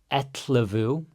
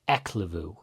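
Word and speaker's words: ellefu: The F is a lot more of a V sound. So Etlevu is 11. Just practice saying that a bunch. Etlevu. You don't want to say like a K sound, like Eklevu.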